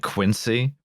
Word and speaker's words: Quincy: ALICE: Are they going to get you for pronouncing it 'Quin-see', first of all? Is it 'Quin-see' or is it 'Quin-zee'? MILES: It's 'Quin-see.' LIAM: 'Quin-zee' i- 'Quin-zee' is the suburb of Boston.